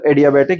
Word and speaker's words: adiabatic: अब आगे आता है बच्चा एडियाबैटिक या डायबैटिक चेंज।